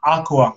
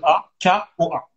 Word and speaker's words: Akoa: Ouais, mon TikTok, c'est A, Akoa. Ça s'écrit A, deux A, il y a deux A, K-O-A, Akoa.